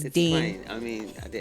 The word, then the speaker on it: Deine: It just feels nice when I say Deanie. Yeah, it's Dane.